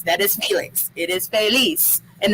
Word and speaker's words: Feliz: is felix it is felice and the z is pronounced like a s not feliz feliz um you can